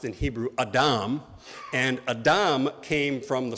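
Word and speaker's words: אדם: Uh from from what little Hebrew I remember in seminary, uh Adam is pronounced in Hebrew Adam.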